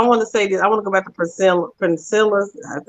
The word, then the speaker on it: Priscilla: I want to go back to Priscilla. That's how you pronounce her name.